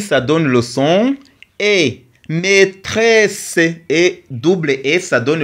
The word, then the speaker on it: maîtresse: A I ça donne le son et maîtresse et double et ça donne le son c. Maîtresse, c'est pas maîtressé parce que ici c'est le muu on ne le prononce pas.